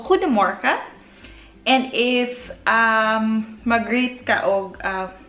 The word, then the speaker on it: Goedemorgen: Ang G kasi nila dito, dapat may pronounce na ha yung iluwa mo yung playmanan doon sa ilalim ng bubunlan mo. So Goedemorgen.